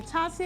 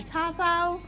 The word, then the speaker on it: char siu: It can be char siu, it can be char siu. Char siu. I don't Char wanna- siu, char siu, char siu, char siu, char siu, char siu, char siu, char siu. I say tassel. Yeah. And someone the other day said, "You're saying it wrong." I'm like, no, I'm not. It's just, I've got probably A different accent, A isn't self- it? Yeah. a Southeast Asian accent rather than a mainland accent.